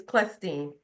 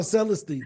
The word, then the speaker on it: Celestine: It's Clestine. Hard C. Oh, Clestine. Clestine. Oh, sorry. Mhm. No Like problem. by habit, I saw Celestine.